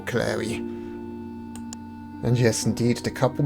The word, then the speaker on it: Cleary: And I'm assuming it's pronounced Clary because of a children's rhyme that goes, "Are you a witch, or are you a fairy, or are you the wife of Michael Cleary?"